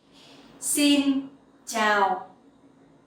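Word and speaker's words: xin chào: the down sound tau the x sound you will pronounce like in english like the s sound in english okay it's like in speaks so sin and the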